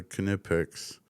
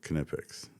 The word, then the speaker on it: Knipex: Conveniently located next to the plumb bobs are the Knipex. See, right there, Knipex. It says it. It's German. The Germans pronounce it with a hard K.